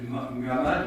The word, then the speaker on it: Muhammad: Et il y a un peu de tout ça dans la prédication de Muhammad, ou Mahomet, selon la prononciation que l'on adopte.